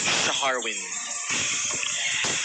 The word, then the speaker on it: Sharwin: May silent H yung pangalan niya. Sharwin.